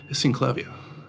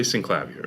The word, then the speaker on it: Synclavier: A lot of people say Synclavier. Yeah. I think everyone in Europe says Synclavier, which means now that I live in England, I should change. But I always said Synclavier. And I met the guys who invented it, and they said Synclavier, so I thought, well, I'm not going to correct them. Yeah. But, I mean, obviously, clavier is French word for piano keyboard, really. Anyway, blah, blah, blah.